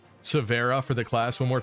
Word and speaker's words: Severa: Severa, like Vera Bradley.